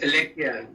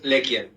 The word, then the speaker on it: LeCuan: LeCuan, I think, is that the right pronunciation of your name? So is Lekian. That is Lekian. Okay, I stand corrected.